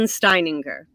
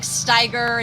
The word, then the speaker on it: Steininger: last name steininger steininger there's a lot of extra syllables that i know i never say i think i call you like steiger and steininger now that i'm married